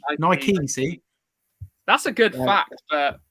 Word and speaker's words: Nike: uh so Damian's saying Nike was a Greek goddess for victory and it's pronounced Nike Nike Nike that's a good fact